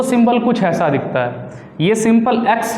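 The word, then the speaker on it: chi: symbol कुछ ऐसा दिखता है ये सिंपल एक्स है इसे बोलते हैं हाय इसका इंग्लिश स्पेलिंग तो क आई लिखने हैं लेकिन प्रनंसीएशन करते समय इसे हम हाय पढ़ने हैं दो कॉम्पोनेंट्स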